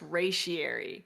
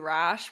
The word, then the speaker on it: Ratiary: And my username is pronounced Ratiary, but nobody knows that because like what, and that's why everyone calls you Rash, but it's actually not Rash.